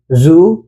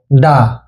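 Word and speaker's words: づ: এটা পড়েছিলাম আমরা চু। এখন 2টি টেন টেন দেওয়ায় এর উচ্চারণ হবে জু। এটার উচ্চারণ দু হবে না, এটার উচ্চারণ দি হবে না।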